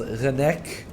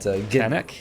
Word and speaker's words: Renek: By the way, it's from what I know, it's pronounced Renek, like with a H sound, not Genek?